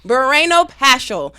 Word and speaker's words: Barreno-Paschall: how do you say your last names bareno pasel bareno pasel hello Miss robbert bareno pasel how are you